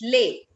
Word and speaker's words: les: What is the pronunciation of les? Les It's garçons. lay. It's lay.